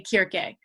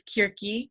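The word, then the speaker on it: Κίρκη: So if I were teaching a course on ancient Greek, I would say Kirke. And modern Greek often says Kirki, because pronunciation has changed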